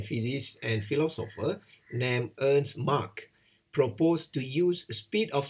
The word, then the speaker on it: Mach: Oleh itu, seorang ahli sains bernama Ernst Mach, okay, M-A-C-H, awak panggil Mach lah, jangan panggil Mach, panggil Mach, okay, M-A-R-K, Mach, okay. Tapi ejaan dia M-A-C-H.